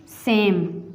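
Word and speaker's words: same: तो next is सेम. सेम में भी ई साइलेंट है और इसमें ये जो ए है इसकी आवाज़ लंबी आती है, लॉन्ग आती है.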